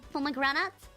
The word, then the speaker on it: pomegranate: grenade palm crap pullman pomegranate pomegranate cranny let me look it up let's see how you pronounce it um uk english pomegranate and us is pomegranate so uk is pomay and u.s us palmer okay okay okay follow